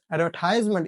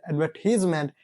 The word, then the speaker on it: advertisement: Advertisement is the American pronunciation, whereas advertisement is the United Kingdom, the British pronunciation.